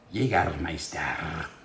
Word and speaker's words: Jägermeister: Actually, it's pronounced Jägermeister.